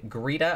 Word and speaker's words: Greta: this is halfway between greeda i think it's greeda it looks like greta but i think it's pronounced greeda and glenn rowan this